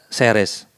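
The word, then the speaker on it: Jerez: Katanya musannif, bunya fi maudhi'ihi al-an madinatu ismuha Seres. Di kota ini kemudian dibangun kota namanya Seres, mungkin Jeres ya. Karena pengucapan huruf J, X itu di Andalus itu memang kemudian memiliki varian bahasa yang berbeda-beda.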